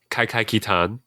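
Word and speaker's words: Kaikai Kitan: Justin, you want to help me out with that pronunciation? Kai Kai Kitan.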